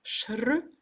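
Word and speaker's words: शृणु: ça qu'on peut avoir shrnu. Hein. Nu, c'est le même n que Ganesha. Murdanya, Murdanyana. Donc c'est une cérébrale. Qui se prononce en recourbant la langue dans le creux du palais.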